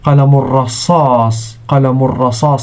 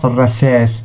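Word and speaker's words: قلم رصاص: And qalamur rasas, not rasas. Okay, so there is a difference between the two.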